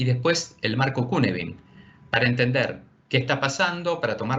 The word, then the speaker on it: Cynefin: para entender esto que se llama Cunefin, aunque se escribe Cynefin, que es un marco